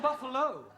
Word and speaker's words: buffalo: a big bull oh Buffalo teril confused yeah words that um endino like Buffalo or radio or vertigo you pronounce the O but when there is no o you don't add one understand yes I give up